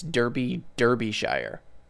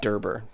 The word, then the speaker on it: Derbyshire: I pronounced it wrong because I'm an idiot. It's Derbyshire. Derbyshire. I said Derber.